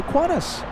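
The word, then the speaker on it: Qantas: Q A N T A S for Quantas. No, not really. We say Quantas.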